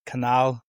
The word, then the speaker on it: Canal: podcast this week Canal. Did I pronounce it? My pronunciation skills, are not the greatest, so you'll have to make sure that I just like Panama Canal, Suez Canal, so it's easy.